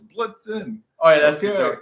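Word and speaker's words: Blitzen: I was like on Blitzel. It's Blitzin.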